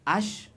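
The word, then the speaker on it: Æ: The full name is X, the letters A-E, but together, which it's pronounced dash, no, ash, then another letter A, dash, X, Y-Y, which in Romance means 12.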